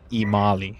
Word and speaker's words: Imali: Imali. It's like Italy, but it has an M instead. Okay. Either way, Imali.